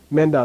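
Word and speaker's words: མེ་མདའ: The prenasal is very strong in a 2-syllable word where the first syllable is an open vowel. Open vowel means there's no suffix letter here. There's nothing to keep the vowel from bumping right into that prenasal.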